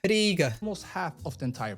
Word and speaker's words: Riga: It's not Riga, it's Riga. The I is like E, Riga.